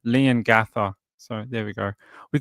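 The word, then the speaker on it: Leongatha: You say it like Liam Ga like lean but lean but with an N with no M. Right. Instead, it's like Lean with an N instead of an M. Lean Gather.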